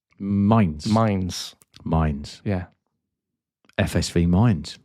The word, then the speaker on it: Mainz: FSV Mons 05. Did I pronounce that correctly? Come on, Neil. This is where we could either cut it or you keep it going. No. Hold it together. Oh, hold it together. So it's Mainz.